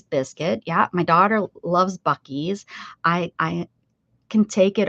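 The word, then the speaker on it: Buc-ee's: u c e s bies that's how you say it some people people call it buy but it it's bies uhhuh I think the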